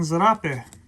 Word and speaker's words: zarape: we call them here i pronounce it with a z in uh europe zarape here in texas we say serape so i believe this